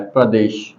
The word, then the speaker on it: प्रदेश: तो मैंने कहा जब प्रदेश लिखते हैं तो प्रदेश एक्चुअल में ऐसा लिखा है प्र और देश, इसका सही उच्चारण ये आता है प्रदेश। हम बोलते हैं प्रदेश।